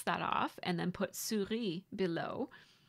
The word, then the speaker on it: Souris: So I decided to spell out Souris as it is pronounced, like Surrey. And then I'm going to cross that off and then put Souris below, spelled the proper